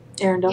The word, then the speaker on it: Arendelle: not just stuck in um how do you pronounce it Arendelle Arendelle yes Arendelle so yeah so I think we're